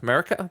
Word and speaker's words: Marika: the not the shrines the statues of america marika the that's america the correct america the correct pronunciation um so it's an element that that